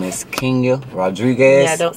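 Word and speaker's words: Kenia: Her name is Kenya Rodriguez. Yeah, don't say it wrong. You feel me? It's spelled K-E-N-I-A.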